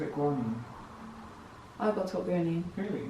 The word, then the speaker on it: guanine: And remember the names of these bases: adenine, thymine, guanine and cytosine.